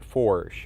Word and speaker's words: Foertsch: the German terminology yeah my last name is pronounced forsh it's a lot of letters for a single syllable but by going that's